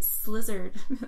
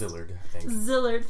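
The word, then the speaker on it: Szilard: similarly Leslie gross delayed the slizzard that is not how it's pronounced zillard petition against the bomb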